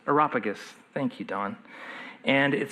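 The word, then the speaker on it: Areopagus: Uh, I always pronounce this wrong. Aeropagus. Aeropagus. Aeropagus.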